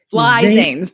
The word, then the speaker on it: Flizanes: Think of it phonetically. Flizanes. FLI Zanes. Fly Zanes.